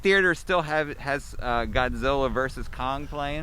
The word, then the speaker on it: Godzilla: still have has uh godzilla versus kong playing godzira so that's how they say it that's how they say it in japan really godzira yeah all